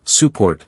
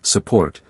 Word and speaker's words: support: Instead of saying support clearly, we say support with the first part dropping into the schwa.